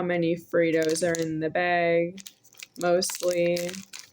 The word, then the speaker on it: Fritos: And uh I am still talking about myself and these here Fritos. F R I is pronounced free. T O S is pronounced toes. Fritos.